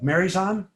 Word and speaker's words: Marjan: That came for me like letter Y. Okay, like Marijan.